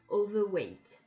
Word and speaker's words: overweight: Vous imaginez que le R, certes, il s'écrit mais ne se prononce pas. I am overweight.